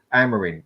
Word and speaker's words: Amorim: I can't pronounce his bloody Amorim. Amorim, that's it, at Sporting Lisbon.